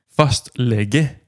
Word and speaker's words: fastlege: Fastlege. Je te laisse prononcer parce que entre Ouais.